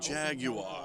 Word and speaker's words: Jaguar: Jaguar, if you're British. You got to keep that lower jaw stiff there.